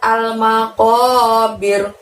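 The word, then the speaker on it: المقابر: Nah, lalu berikutnya ada lafadz al-maqabir. Ko-nya di situ pakai qof, diucapkan dari pangkal lidah hingga menyentuh langit-langit. Ko-nya panjangnya juga 2 ya.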